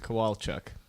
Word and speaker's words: Kowalchuk: mark ke ko'olau Chuck how would you pronounce his last name that's a rough mark Cole look Chuck Cole the Chuck Kowalchuk ko wal CH u K shout out to your